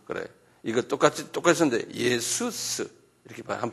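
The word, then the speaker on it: Ιησοῦς: 이거 똑같이 똑같이 썼는데 예수스 이렇게 한번 발음해 보세요.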